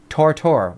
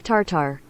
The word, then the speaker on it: tartare: Tortor. What? You guys follow? I'm saying it right. That's correct. Steak tartar. Steak tartare.